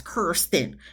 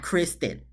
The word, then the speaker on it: Kirsten: just gonna still know your name is pronounced as Kirsten not Kristen we get to day